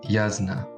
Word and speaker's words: Yasna: so quick not dm it is pronounced yazna yes i will make note of that of course thank you tien yasna um tries to avoid